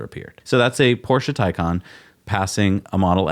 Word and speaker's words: Taycan: This is where, the Taycan, the Porsche Hey, you Taycan. said it right the first time. I had to think about it.